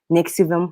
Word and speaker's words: NXIVM: Nixivum.